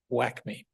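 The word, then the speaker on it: WACME: and medical examiners and if you pronounce it it's it sounds like whack me they do have a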